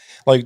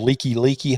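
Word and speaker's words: Likelike: Like, they got a place here called Leaky Highway, but it's spelled Like. So I was like, yeah, I need to go over to Like Highway. And they were like, like Highway. What is that? Well, that's what it says on the fucking sign. They were like, no, it's Leaky.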